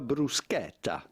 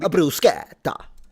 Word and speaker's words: bruschetta: but rather bruset than bruseta because there is a double t here. Insist on the e and the double t.